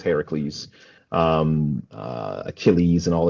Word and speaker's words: Heracles: We we use like the Greek pronunciation. So um Hercules is is Heracles.